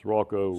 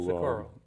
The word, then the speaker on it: Socorro: Okay, Lonnie was actually chasing a speeding vehicle in Sirocco. I think I pronounced Sirocco. Socorro. Yeah, New Mexico.